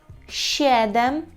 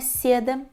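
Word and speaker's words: siedem: шесть шесть ще один щедем Зверніть увагу що ми не читаємо сєди це щедем Чому так Тому що там всю кашу заварює буква і ще Ден вголос повторюємо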